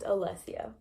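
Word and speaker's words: Alessya: my name is pronounced Alessia a le s sy a it's like Alessia Cara the singer but it's like her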